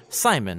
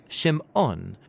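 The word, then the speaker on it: שמעון: a son and she names him Simon or in Hebrew shim ohn because she says the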